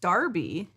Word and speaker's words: Derby: No. pronounced Darby. Derby.